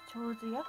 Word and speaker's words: 手水舎: 長寿屋、うん、長寿屋と